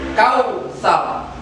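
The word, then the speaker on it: كوثر: maka ini pun harus dibaca tebal atau tafkhim, abtar. Cara membaca bacaan tafkhim atau bacaan tebal adalah dengan memajukan mulut kita atau bibir kita supaya menandakan bahwa itu bacaan tebal. Saya ulangi lagi cara membacanya. Kautsar, wanhar, abtar. Itulah cara membaca hukum bacaan tafkhim.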